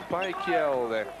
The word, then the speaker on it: Piquiel: Il glisse à l'oreille que ça se prononce Piquiel, le numéro 21, Piquiel.